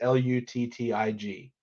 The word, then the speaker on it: Luttig: Might be pronounced Ludig, but it's Luttig.